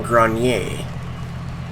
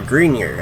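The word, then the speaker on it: Greiner: are against Detroit and Grayson groan yay or a green ear I think is how they're pronouncing that Thai pronounce at the French way and we are up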